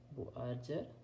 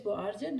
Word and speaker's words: Buerger: Buerger disease. The pronunciation is quite similar to another disease, not mixed with, not confuse this Buerger disease with Berger disease or Berger disease.